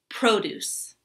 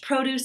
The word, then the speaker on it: produce: For example, produce. Produce. I always buy fresh produce at the store. Produce. However, when the word is a verb, we're going to put the accent or stress on the second syllable.